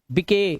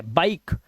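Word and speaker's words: bike: अब इसे गिवे नहीं पढ़ने, गिवे, गिव, मके नहीं, मेक, बिके गलत है, बाइक। इसे राइस या रिसे नहीं पढ़ना है क्योंकि लास्ट का ई साइलेंट है।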